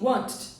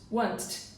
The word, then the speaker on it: wanted: Então, já que acabou em T, para ficar uma coisa mais natural para eles, ele coloca o som de ED.